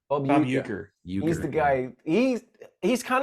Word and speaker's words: Bob Uecker: Bob Wecker? Bob Uecker. Bob Uecker.